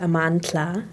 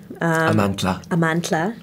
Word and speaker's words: Amandla: name amandla wow i was named amandla because amandla or how it's actually pronounced amantla amantla means power in zulu and hosa and during